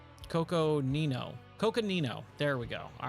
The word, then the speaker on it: Coconino: WWE Bay Sonoran Desert we've got most of cocone Coconino Coconino there we go all right now I can finally pronounce it all right long lost gold this